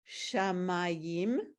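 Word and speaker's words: שָׁמַיִם: It's not shamayim, it's shamayim. The Oh. emphasis is on the syllable next to the last, and when it has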